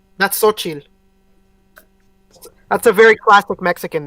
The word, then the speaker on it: Xochitl: So they're for sure building up their Young Avengers, but which name can't you pronounce? The X? That's Xochitl. That's a very classic Mexican name. It's Xochitl.